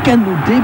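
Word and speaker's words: Kanouté: cette saison pour le jeune attaquant canouté puisque c'est ainsi qu'il faut prononcer son nom leur pression récupération de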